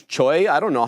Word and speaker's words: CHUY: CHUY, it's not Chewy, it's Choi.